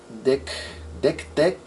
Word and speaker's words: DEC Tech: Hay una marca que se llama DEC Tech, ok, DEC Tech, así como se escribe el nombre de estos dispositivos, DEC, y Tech de tecnología en inglés.